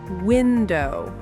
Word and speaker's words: window: Most two syllable nouns have stress on the first syllable. Nouns? You mean like people, places, and things? Exactly. Listen to these words. Table. Table. Window.